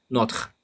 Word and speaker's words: notre: But in Quebec French, they would probably say notre vie without separating the T and R. You just put it as an English syllable, notre, instead of saying notre.